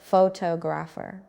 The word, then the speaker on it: photographer: Now the word photographer, say it, photographer. The stress moved. Now it is on the second part, photographer.